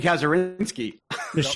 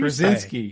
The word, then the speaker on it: Kazurinsky: I was going to say Tim Kazurinsky. Michelle Ang. And by the way, that is how we pronounce his last name, because we totally mispronounced it in front of him on the show.